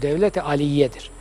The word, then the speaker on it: Devlet-i Aliye: Onu da yanlış telaffuz ediyorlar. Devlet-i Aliye değil, dil düzeltmesi yapıyorum. Devlet-i Aliye'dir.